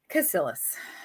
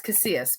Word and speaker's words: Casillas: joining us today, Lu Casillas. So I'm saying it wrong. It's Casillas because I'm Southern and I like to say all the syllables because I'm hooked on phonics.